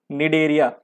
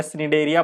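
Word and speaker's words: Cnidaria: निडेरिया, निडेरिया, मैं स्निडेरिया पढ़ता था इसको, निडेरिया है ना इसका सी जो है साइलेंट है, मैं स्निडेरिया पढ़ता था।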